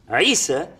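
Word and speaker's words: عيسى: the word Issa his name in Hebrew is pronounced Isha or Yeshua and it's Isa in Arabic and the reason for that is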